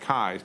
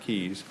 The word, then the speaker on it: Kais: club Philip kais so it's pronounced kais not keys so kais of the